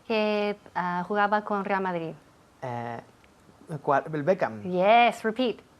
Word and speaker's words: Beckham: Beckham. Yes, repeat. Beckham. Beckham. Todo el mundo aquí dice Beckham con la boca abierta. Sí. Beckham, pues cierra. Beckham, M.